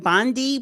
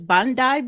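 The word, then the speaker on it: Bondi: Sunday um Bandai because Americans we would name it Bandi but I think it's Bandai Beach. That's how they pronounce it in Australia.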